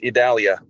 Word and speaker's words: Idalia: hurricane expert here yeah it's a Portuguese pronunciation it's idalia there you go so Jen we that that's what I I actually got one right for a change uh idalia so uh just your